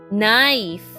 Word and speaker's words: knife: has a sword the Knight has a sword knife k n i f e let's spell the word once more k n